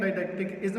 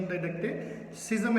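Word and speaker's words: didacticism: डाइडेक्टिसिज्म भी कहते हैं, डाइडेक्टिकिज्म भी कहते हैं, लेकिन सही प्रोनाउंसिएशन डाइडेक्टिसिज्म है।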